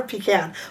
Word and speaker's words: pecan: Do you say pecan or pecan? Pie. Both are correct.